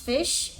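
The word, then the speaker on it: Ghoti: be my second one did you know that goie is pronounced fish Omi hello Omi yeah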